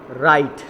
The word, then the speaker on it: Wright: Wilbur and Orville राइट. अब देखिए इसको राइट नहीं पढ़ेंगे, इसको हम क्या पढ़ेंगे? राइट. ओके, डब्ल्यू इधर क्या है? साइलेंट है, तो हम पढ़ेंगे Wilbur and Orville राइट build uh large glider.